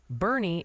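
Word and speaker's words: Boerne: Oh, and quick pronunciation boot camp from the viewers. Bernie is apparently Hey, Bernie, Agent.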